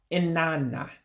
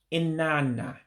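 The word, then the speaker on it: נננה: There's another word for grandfather, which doesn't look like anything that is spelled as. In other words, it doesn't look like how it's spelled. That's what I'm trying to say. Another way of saying grandfather would be inana. Inana. Grandfather, because you run the words together.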